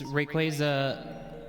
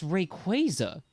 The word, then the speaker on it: Rayquaza: It's Rayquaza.